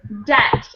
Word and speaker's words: debt: e b t yep D EBT great silent silent B again all right now we're